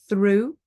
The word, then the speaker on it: through: Even if there's not a T and it's just GH at the end, like through, we don't pronounce the GH.